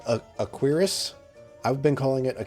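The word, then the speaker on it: cuirass: I guess it's called a a quirus. I've been calling it a curious, but then I found out I was saying it wrong.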